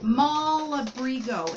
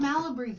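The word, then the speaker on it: Malabrigo: well that's part of mall abrigo is how it's pronounced not malla breathe oh yeah so I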